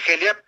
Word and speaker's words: Heliap: Es HELIAP. Ciudad Heliap, se pronuncia así, se escribe HELIAP, y pueden encontrar algo, está bueno lo de tus oyentes.